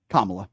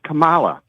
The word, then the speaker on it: Kamala: Vem, how do you pronounce our previous vice president's name? Kamala? Kamala. That is incorrect. Yeah, it's Kamala. It is Kamala.